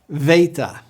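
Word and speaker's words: Βήτα: Alpha ah Alpha a Veta it's pronounced like our V instead of B say it with me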